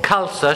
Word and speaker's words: Khalsa: guest so jeep kaur khalsa she said it's pronounced like salsa and I was scared